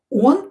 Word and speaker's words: он: Он not stressed. Pronounce it as a.